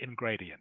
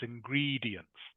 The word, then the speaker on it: ingredients: I said ingredients yeah you said ing gradient yeah it's ingredients ingredients juicy juicy yes juicy